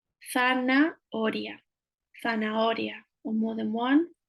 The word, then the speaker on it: zanahoria: So remembering the th again here, and remembering that the H is always silent in Spanish. Zanahoria, zanahoria, or more than one with an S.